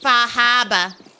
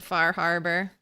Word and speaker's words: Far Harbor: It's pronounced Fahaba. Fahaba. It's alright. I'm a Nuka-Cola girl. I'll pronounce it Far Harbor.